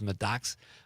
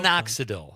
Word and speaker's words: minoxidil: But he also says medoxical. How do you spell that, Con? For hair growth. What is that word? Medoxical for hair growth? Minoxidil.